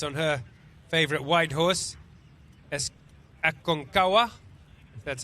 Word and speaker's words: Aconcagua: Okay, so we've got information there that Aconcagua is how you pronounce that grey horse.